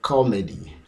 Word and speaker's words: comedy: The stress is on the first syllable.